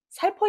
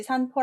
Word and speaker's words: 살포: 짬밥 읽어 보실 까요 잡은 살포 입니다 혹시 삼포 라고 읽으신 분 많겠죠 험이 이 상자가 뒤에 있는 한 짝을 흩어질 사이다 보니까 내가 아는 자로 많이 풀게 되잖아요 다시 한 번 말하지만